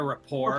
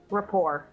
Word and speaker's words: rapport: Rapport. Rapport, okay. The rapport suggested they'd known each other for some time. Were they good friends? Maybe. Possibly. That she is silent.